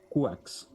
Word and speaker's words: Quacks: How do you pronounce it? Quace. Quacks.